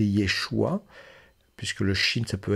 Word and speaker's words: Yeshua: Jésus y ait choix on peut prononcer Yeshua puisque le Chine ça